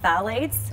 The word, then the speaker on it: phthalates: Okay, so BPA and phthalates with a silent P, might say that, right? That's a tricky one.